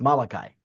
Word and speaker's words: Malachi: I believe in English is pronounced Malachi.